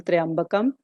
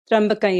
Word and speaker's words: त्र्यम्बकं: And as I said, please feel free if you are accustomed to saying Triambakam. But because the exact Sandhi rule because it applies, so I would be basically pronouncing it as Trambakam Yajamahe.